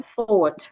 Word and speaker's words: thought: no rain Aline also when we have GH after reval GH becomes silent as in thought right way sometimes when